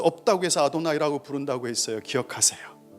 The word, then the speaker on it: 아도나이: 유대인들은 하나님의 거룩한 이름을 망령되이 부를 수 없다고 해서 아도나이라고 부른다고 했어요. 기억하세요. 야훼라는 히브리 글자를 못 읽어요. 너무 거룩한 이름이라서 거기 밑에 있는 모음만 읽어요. 따서 그걸 아도나이라고 읽는 거예요.